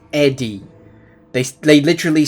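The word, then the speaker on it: ED-E: from the start, obviously, you've got to repair Edy. Ed Eddie. Sorry, I always call him Ed. I My brain said, "Oh, his name's Ed." No, it's not. That would be E-de. It's Ed D- E. It's Eddie.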